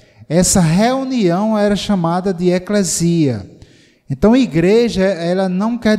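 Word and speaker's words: ἐκκλησία: tradução da palavra grega eclesia ou eclesia, ou eclésia, como alguns pronunciam, abrasileirando a pronúncia.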